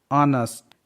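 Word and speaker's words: honest: Example, ऑनेस्ट. H के बाद O है इसलिए इसका H का प्रोनाउंसिएशन नहीं किया, H साइलेंट है.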